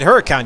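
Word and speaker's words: Huracán: well say no i i like to pronounce it her account you don't have to do the whole italian spin on it and then i'm in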